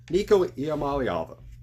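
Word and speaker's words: Iamaleava: he's very very good next up number four nikamal ala I said his name right I know it's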